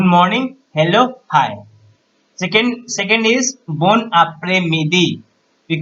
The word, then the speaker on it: bon après-midi: Second is bon après-midi. We call good afternoon. So bon après-midi. How to pronounce it?